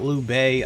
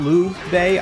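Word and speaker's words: Lü: we need to keep up so it is Lou though like that is how you pronounce it so I am pronouncing it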